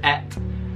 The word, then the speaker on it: eight: is considered more refined to pronounce eight as et." No, I would say again that's the other way round. Et is considered like quite vulgar and uncouth and like uneducated.